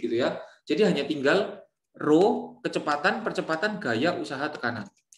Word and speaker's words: rho: Jadi hanya tinggal rho, kecepatan, percepatan, gaya, usaha, tekanan. Ini massa jenis ya, rho ya. Ya, bukan simbol P, massa jenis. Rho, RHO bacanya guys.